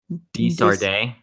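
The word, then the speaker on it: De Sardet: Desarde.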